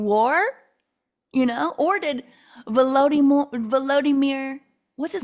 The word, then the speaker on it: Volodymyr: That is so, they just like pronounce it peculiarly, Volodymyr instead of Vlad.